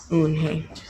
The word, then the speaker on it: Eunhye: "Yes, it is pronounced Eunhye, and it means grace."